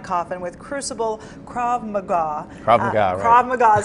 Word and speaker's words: Krav Maga: Krav Maga is how you say it.